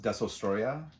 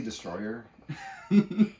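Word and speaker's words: Destoroyah: This is Godzilla versus, I always have a hard time saying this kaiju's name, but I believe it's pronounced Desostroya, but I always say Destroyer.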